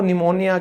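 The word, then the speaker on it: pneumonia: जैसे बीमारी थी ना, वो निमोनिया, किसी को सर्दी जुकाम होने के बाद होता है, तो यहां पे सीधा हम बोलते हैं निमोनिया, तो पी का कोई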